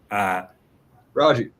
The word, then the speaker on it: Rogge: Rogge. Like Froggy. Just think of Rogge.